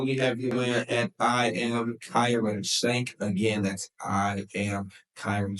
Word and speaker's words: Khyran Shank: Pronunciation. Yes. Khyran Shank, y'all.